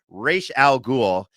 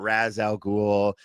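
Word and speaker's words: Ra's al Ghul: to pronounce it not Raz Al ghoul not Rouge no no it's Rachel al Ghul it's a Hebrew pronunciation with an Arabic uh you know naming convention that's how deep I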